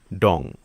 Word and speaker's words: তং: অনেকে তং বলে আবার অনেকে বলে ডং। মারমা শব্দ তং এর বাংলায় অর্থ পাহাড়। কালে কালে মুখে মুখে তং উচ্চারণ হয়ে গেছে ডং।